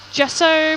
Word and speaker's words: gesso: you'll find that like gesso paint uh which is spelt with a g um that's pretty good